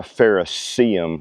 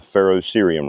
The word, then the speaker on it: ferrocerium: Not a ferrocium rod, a ferrocerium rod. So you may be saying it wrong too.